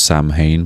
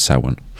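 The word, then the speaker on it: Samhain: It's it seems like it it's going to be pronounced Sam Hayne, but it's sin.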